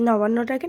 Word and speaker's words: নবান্ন: আসলে কি বলো তো, আমাদের সহজ সরল ভাষায়, গ্রাম্য ভাষায় আমরা অত নবান্ন বলতে পারি না। নবান বলেই আমরা কিন্তু উচ্চারণ করি।